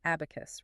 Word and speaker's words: 4B4KU5: Spelled 4B4KU5, pronounced abacus, right?